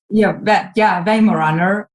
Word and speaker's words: Weimaraner: Weimaraner? Yeah, Weimaraner.